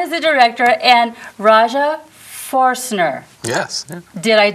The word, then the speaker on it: Foerstner: I'm mispronouncing it. Jon is the director, and Rajah Foerstner.